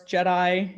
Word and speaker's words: GEDI: So of course, Jedi is spelled with a G, but pronounced like a la Star Wars.